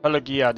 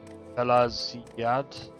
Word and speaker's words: Pelagiad: Pelaziad. That's how you pronounce it, Pelaziad. But that's G. It's got a G in it.